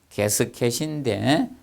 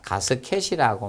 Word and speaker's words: 가스켓: 원래 발음상은 게스켓인데 보통 교수님들 발음이 가스켓이라고 많이 씁니다.